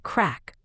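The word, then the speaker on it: craic: Later, she learned crack, pronounced crack, is Irish slang for fun or good times.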